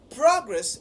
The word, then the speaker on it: progress: So if progress is functioning as a noun, then the stress would be on the first syllable because progress has just 2 syllables.